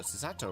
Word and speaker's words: Sato: Sato rhymes with tomato.